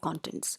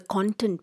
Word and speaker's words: content: or a thesis you can see table of contents so this is actually known as a content page and please understand the pronunciation is not content the pronunciation is content